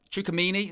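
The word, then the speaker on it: Tchouaméni: terrible and it's pronunciation uh chukamini is how you say it busuma i'd be happy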